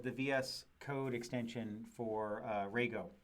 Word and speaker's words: Rego: vs code extension for Rago Rago is how you say for Rago here okay so I